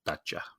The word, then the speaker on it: Dacia: sand Riders they were they were pronouncing it thata and I just looked it up and it says the pronunciation is daa oh okay basically d the announc saying Dacia they could have also been wrong but again